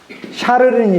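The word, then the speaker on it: Charles: 그래서 아까 클로비스를 통해서 496년 이렇게 내려오던 그 왕의 가문이 끝나버리고 샤를은 이제 독일말로 카를이거든요. 이게 불어말로 샤를이고 독일식 발음으로 카를이니까 이 샤를 즉 카를 왕조가 새로 시작해요.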